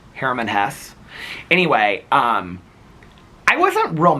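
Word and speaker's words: Hermann Hesse: I was like, "My mom liked Journey to the East more than Sedartha by uh I always mispronounced it. My mom would have corrected me. She would have said Herman Hess."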